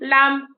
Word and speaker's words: lamb: so when you do crumb lamb reign you don't um clum and lamb you don't actually hear the bee in it you don't go crumb lamb you know the bee is hidden in that then you got the